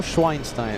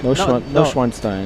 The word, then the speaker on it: Neuschwanstein: There's a way of saying it. Yeah. No Schweinstein. Neuschwanstein. It's not that.